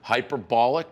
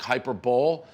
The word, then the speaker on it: hyperbole: word that i do not know how to pronounce correctly hyperbolic hyperbole um hyperbole hyperbole hyperbole yes i was truly